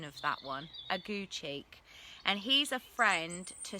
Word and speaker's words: Aguecheek: I had to check the pronunciation of that one, Aguecheek, and he's a friend to Sir Toby.